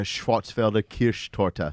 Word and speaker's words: Schwarzwälder Kirschtorte: The Black Forest cake, the Schwarzwälder Kirschtorte.